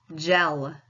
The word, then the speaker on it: gel: Gel. Soft C or soft G? Soft G. I know that because the E is right next to it.